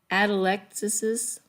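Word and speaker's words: atelectasis: you can't just have a regular name is atalexis there you go just so that you know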